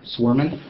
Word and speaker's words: Swerman: eat our er and how do you pronounce that were swarming okay it's almost like it sounds okay all right so